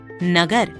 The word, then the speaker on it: नगर: लिए दिया जाता है जैसे नगर कमल इन शब्दों का उच्चारण करके देखिए इनका उच्चारण करते समय हम इनके दूसरे अक्षर क्रमशः ग और म पर अधिक ब देते हैं अब मूल्य अकाट्य इन